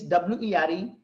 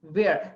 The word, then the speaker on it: were: So guys, the pronunciation of this W-E-R-E is were. If you are pronouncing where, that's wrong.